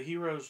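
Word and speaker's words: Hiero: animal companion is the hero's journey no way a hero's he it's not joseph campbell's book it's hero's journey h-i-e-r-o hierro but i believe it's still pronounced hero hero's journey it's a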